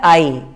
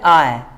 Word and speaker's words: I: पहला है आई। अब आप थोड़ा उच्चारण पे ध्यान दीजिए, प्रोनाउंसिएशन पे ध्यान दीजिए। आई नहीं, इसको क्या बोलते हैं? आय। क्या बोलेंगे? आय।